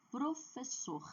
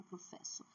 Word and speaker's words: professor: Amor, sabor, doutor, favor, labor, professor, não é professor, tudo bem? Então, o R faz com que a última sílaba seja forte.